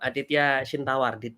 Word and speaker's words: Aditya Chintawar: next anyway um uh Here Comes let's welcome adya shawar do I mention your name correctly bro yeah